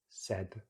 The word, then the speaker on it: said: So these all have the same diphthong. So paid. So it's the A diphthong, just like the letter A, but it's a diphthong is a double vowel. So you really have to move the mouth. Paid, made, said, said. Just a regular short vowel, as we can see.